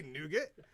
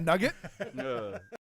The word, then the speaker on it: nougat: you can say yeah you can say nougat am i pronouncing it wrong is it nugget um actually that's it's